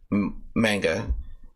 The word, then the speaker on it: manga: yes I do Read Manga I read quite a bit of manga or Manga depending on how you want to pronounce it I knew I had